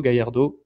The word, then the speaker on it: Gallardo: semaines c'est machado gallardo gallardo comme on prononce à castillane ou l'argentine et voilà nous c'est